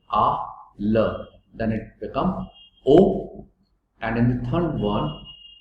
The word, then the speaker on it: aux: Now please notice that this x is not spoken. The pronunciation of this o and the o in this slide, this o will remain same, only there is a change in spelling. O U X, इसको ऑक्स मत बोलना.